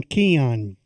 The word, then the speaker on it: Keon: It's pronouncing Keon. Keon Coleman, and not he said Deion, that, and not he read.